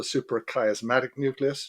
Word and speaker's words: suprachiasmatic nucleus: All right, there's a master clock in the brain called the suprachiasmatic nucleus, just to get the pronunciation right.